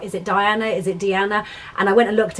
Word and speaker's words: Diana: found out afterwards that it's actually deanna um rather than diana um so i do